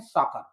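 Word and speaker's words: soccer: लेकिन यहां इसको हम पढ़ते हैं साकर, ये अपवाद है।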